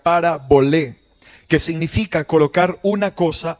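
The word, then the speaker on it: παραβολή: una parábola pastor bueno la palabra parábola proviene de una palabra griega compuesta y se pronuncia parabol que significa colocar una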